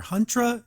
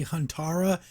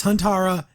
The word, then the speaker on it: Huntara: apologize in the past I was calling her hundra it's actually Han Tara I don't know I was messing up my vocabulary there but up its hon Tara if I do say